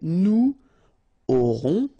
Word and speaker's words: aurons: Okay, nous aurons, final S not pronounced, O and N together, nasal, on, A-U-O.